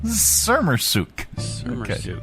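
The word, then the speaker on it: Sermersooq: That's how to pronounce Skirmiscoot? Sermersuk.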